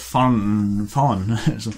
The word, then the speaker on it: Fanden: Vi snakket om det i stedet, at det er enkle ord som er jævlig vanskelig å uttale på bergensk, for det er sånn som Fanden. Det er sånn ord som vi bare drukner det inn i. Fanden. Ja, vi har spørsmålet som vi sier fan.